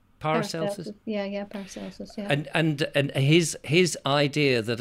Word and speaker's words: Paracelsus: Is that, how do you pronounce his name? Paracelsus? Yeah, Paracelsus, yeah.